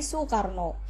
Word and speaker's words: Soekarno: Soekarno ini tulisannya suekarno tapi untuk eh cara bacanya menjadi Soekarno jadi panjang ya Soekarno GTA sukaro Nah di